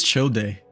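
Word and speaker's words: Childe: No, it's chill day.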